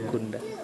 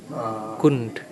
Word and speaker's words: Kund: Jadi huruf terakhir itu tidak diucapkan. In India, istirahat usually di the end sambil of the words like A is not pronounced, Dan, like kund, like ibu-ibu that. dari It's not kampung they are dekat saying itu kunda, no. juga Indian sering say mengambil kund.